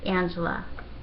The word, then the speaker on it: Angela: on a little secret the American way Angela that is how you pronounce my name so do you think